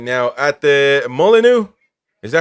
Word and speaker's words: Molyneux: I'm sure they want to give us 3 points right now at the Molyneux. Is that how you say it? Molyneux, yeah. I hate these French words, man. It's a strange pronunciation, I suppose.